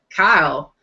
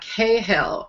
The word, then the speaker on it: Cahill: told us all that, it's Kyle, and it's not Cahill, and I was a little shocked myself. How do you say it? Kyle, like Kahill, Kyle. Oh. And yeah, there's no H, there's no hey in there, like us Americans want to pronounce it.